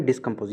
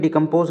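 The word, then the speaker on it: discompose: जो पहला सिनोनिम है डिस्कम्पोज, याद रखें डिकम्पोज नहीं है।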